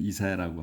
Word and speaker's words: 이사야: 이사야 이제 우리는 이사야라고 하는데 영어로 이제 할 때는 아이지아라고 합니다.